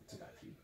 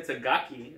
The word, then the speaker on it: Takagi: Takagi. Yes, Takagi. I've been saying it wrong the whole time. Yes, you have. I've been saying Tagaki instead of Takagi.